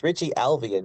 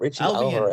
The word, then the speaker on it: Richie Alvian: It's Richie Alvian, not Richie Albion.